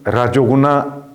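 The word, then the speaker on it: रजोगुण: 두 번째 라자스 구나 아스티에 와서 발음이 5로 바뀌게 됩니다 독립적으로 라자스 해도 라조구나라는 의미가 되지만 군화와 합쳐서 발음할 때는 라조구나 이렇게 변하게 됩니다 나중에 강의가 진행되면서 의문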